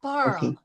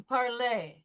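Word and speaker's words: parlé: You did not pronounce the in the past participle. You still went parl as opposed to parlay.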